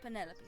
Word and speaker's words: Penelope: pointer pleasure is that short for Penelope officially yes but I never can be bothered with all four syllables of it Penelope sounds a little ostentatious